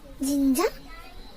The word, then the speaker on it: 진짜: We say it as 진짜, 진짜, J-I-N-J-J-A, 진짜, 진짜, 진짜.